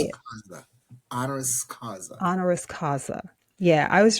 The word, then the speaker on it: honoris causa: honoris causa. Did I say that right? I said it wrong, Hmm. didn't I? What did I say? Yes. Honoris Say it. causa. Honoris causa.